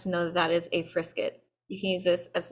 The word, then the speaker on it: frisket: is actually called a frisket rhymes with triscuit um but if you